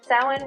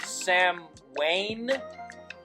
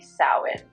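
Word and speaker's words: Samhain: Like you just said, it's one of those words that looks one way but sounds another. So, yeah, you've got the pronunciation spot on now. Sin.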